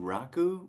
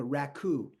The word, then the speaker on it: raku: first of all, okay, it's pronounced, for those of you not aware, it's pronounced in America raku. So Mm-hmm. raku, but there's American raku and there's Japanese raku, and it's really quite different.